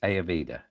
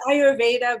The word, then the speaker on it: Ayurveda: is wealth with ayurveda did i say that right aveda yeah it's it's ayurveda but i have very